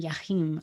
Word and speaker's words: Jachym: welcome to the authentic wednesday podcasts natasha and jachim i want to make sure i pronounce his name right did i say it